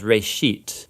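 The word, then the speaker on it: בראשית: of it's called Genesis Genesis comes from a Hebrew word it's pronounced race sheet and it just means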